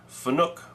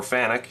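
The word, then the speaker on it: Fanuc: take a look at the generic Fook postprocessor or fanic depending on how you choose to pronounce it and we'll look at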